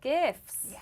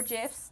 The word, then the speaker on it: GIF: We included little GIFs or GIFs, depending on which side of the fence you're on.